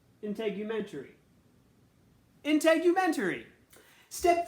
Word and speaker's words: integumentary: dermis and fatty layer step 2 how to pronounce the name for the system in integumentary integumentary intake you venturi step 3 skin tone now